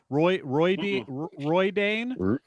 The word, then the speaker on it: Rhuidean: I gotta make sure these guys know how to pronounce Rhuidean, Rhuidean.